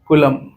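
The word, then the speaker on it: coulomb: बट अभी समझो SI unit क्या होता है कूलम होता है क्या होता है c से बोलते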